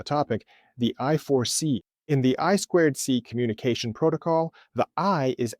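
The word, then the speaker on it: I²C: Well, in English, that's actually pronounced I squared C.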